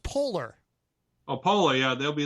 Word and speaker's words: Poehler: I believe it's pronounced Polar.